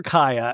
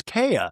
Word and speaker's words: Kaya: we got on because I used to call her Ka and then somebody was like, "No, her name's Kaya." And then I was like, "Oh my god, I've been saying it wrong the whole time."